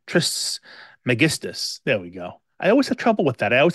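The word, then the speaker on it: Trismegistus: um it's based on the teachings of Hermes trist megus I think I said that right trist megistus there we go I always have trouble with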